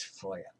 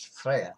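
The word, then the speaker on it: Freyja: On that note, one usually hears her name pronounced Frøydis and the goddess as Freya, but that's the modern pronunciation in the Scandinavian languages. But in Old Norse 1,000 years ago, her name was Frøydis, just as the goddess was Freya.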